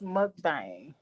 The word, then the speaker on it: mukbang: up with you miss mother bang am i saying it right it's mukbang like mud thing uh wow